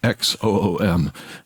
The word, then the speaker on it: Xoom: It's called Xoom, Xoom. Germans have a really difficult time saying that, but it's like Zoom, like the communications platform. But that's how you say it.